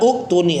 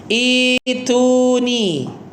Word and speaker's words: ituni: Bukan utuni. Rata-rata diya utuni harusnya ituni ituni ya bukan utuni.